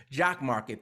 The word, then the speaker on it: JOCKMKT: Jock Market, that's spelled JOCKMKT, offers live daily markets